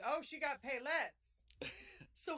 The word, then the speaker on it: paillettes: Paillettes? Paillettes. It's okay. French, and it's one of those things that doesn't make sense in the English language, and you just learn to say it right.